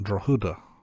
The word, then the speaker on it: Drogheda: And Google tells me that the town he was born in is pronounced Drogheda.